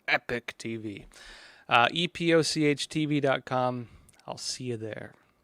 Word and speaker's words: Epoch: All right, folks, that said, let's jump over to Epoch TV, or I'm going to call it Epoch TV now. I'm trying to get rid of the British pronunciation, Epoch TV.